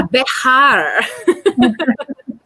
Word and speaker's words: Bexar: And for the non-Texans who are watching in, can you explain to them that we're not misspelling Bekah County? It's Bekah. So for all of you outside of Texas, Bekah is spelled Bexar in the San Antonio region.